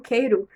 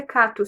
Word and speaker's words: Cato: Eu sempre pronuncio como Keiro, mas me dizem que o nome dele é Cato.